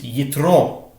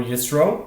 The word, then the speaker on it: Yitro: The parsha of the week is Yitro, or Yisro, depending on your pronunciation.